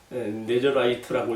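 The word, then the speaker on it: Nazirite: 나실인이라고 하는 그 단어의 의미가 영어로는 네저라이트라고 읽는데요.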